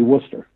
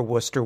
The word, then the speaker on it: Worcester: Although almost everyone pronounces it as Wooster. It's actually Worcester.